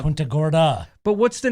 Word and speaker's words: Punta Gorda: to naples that's that's that's not punta gordo that's uh punta gorda but what's the name